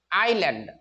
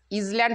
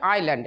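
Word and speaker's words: island: বাস করতেন বিঘাপন দ্বীপে আইল্যান্ড এটা কিন্তু আইএস ইজল্যান্ড হবে না উচ্চারণটা হবে আইল্যান্ড এস এর উচ্চারণটা উজ্য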